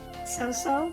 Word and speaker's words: Cao Cao: the other person is So-So. Or Cao Cao if you prefer. I think it's pronounced So-So, right? I think I can also play as So-So.